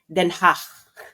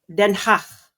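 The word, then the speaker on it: Den Haag: Ang pronunciation non ay Denha Hach. Okay? Repeat after me. Denhach. Hindi ke so imagine niyo kayo ay nag--expell ng plema in a very very light way once again then hach.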